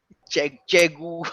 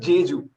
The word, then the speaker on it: Jeju: Chegu or something like that. I don't know. Okay. Chegu or something. No, Passing to Prasanth. Passing to Rajeev. Passing. Gilles. Pass. Shamanta was almost phonetically closer. This is Jeju.